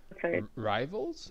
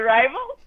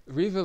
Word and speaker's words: Rivilis: No, it's actually Rivilis. Rivilis, okay. Sounds like, yeah, because it's like I pronounce it in Russian way, so it's like Rivilis.